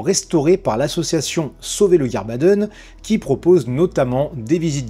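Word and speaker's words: Guirbaden: Mais pour être sûr, laissons Sébastien prononcer ça comme il se doit. Gerbaden.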